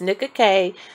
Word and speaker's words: Nickak: I was talking about is called Nick okay I pronounced it wrong so I edited that out is nicka K 24-hour lip color lip